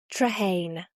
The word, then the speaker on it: Trehane: Traine.